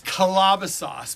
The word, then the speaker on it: Calabasas: no i don't think it's from calabasas it's calabasas by the way that's how you pronounce it that's where hang ups is big